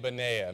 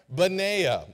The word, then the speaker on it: Benaiah: Now some may say Benaiah, Benaniah. Max is already smiling at me. I said, look, I did my research. And I think you pronounce his name Benaiah.